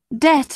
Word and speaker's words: debt: preferable comfortable and vegetable bee must not be heard in doubt debt and dumb both leave it out in the words psychology